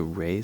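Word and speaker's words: Reye: fly under the radar so Ray syndrome or rise syndrome however you want to pronounce it that happens to little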